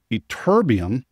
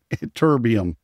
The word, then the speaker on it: ytterbium: Terbium, ytterbium rhymes with disturbium.